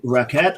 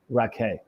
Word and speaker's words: Racquet: some time is it raet or raake raake ra ra and ra I should have known not pronouncing the T it's exactly like cha